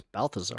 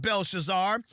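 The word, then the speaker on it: Belshazzar: Daniel said, "You have not thought it was Balthazar. Not humbled your heart, Belshazar.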